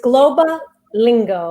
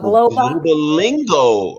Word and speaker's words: Globa Lingo: It's Globa Lingo. It's probably a little easier if we break up the syllables that way. So Globa Lingo.